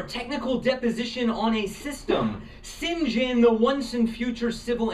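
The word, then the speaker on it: St. John: you can follow along um sinjin which is spelled saint john is one and he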